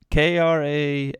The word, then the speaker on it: Krasinski: is his last name i don't know we pronounce it k-r-a-s-i-n-s-k-i yeah s-k-i kia barinsky karen krasinski that's probably